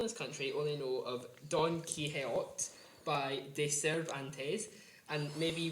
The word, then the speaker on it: Don Quixote: So, good attempt at pronouncing that, Daniel. Don Quixote.